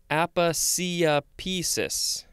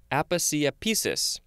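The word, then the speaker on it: aposiopesis: Aphasiopesis. Aphasiopesis. A-P-O-S-I-O-P-E-S-I-S. Aphasiopesis. Six syllables.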